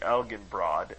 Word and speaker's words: Elginbrod: to them uncouth into elsin broad el shin broad thence l ginbrod with the soft g and lastly elgin broad as you pronounce it now with the hard g this name turned from